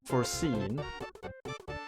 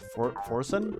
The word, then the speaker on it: Forsen: Foreseen? What? You pronounced foreseen? Is it foreseen or what? Forsen? Forsen? Huh.